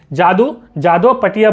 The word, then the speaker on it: जादू पटिया: जादू पटिया, ठीक है, ये एक संथाली वर्ड है। तो यहाँ पे आपकी जो प्रोनाउंसिएशन है वो संथाली वाली जो है आएगी। जादू पटिया बोलते हैं इसको, ठीक है।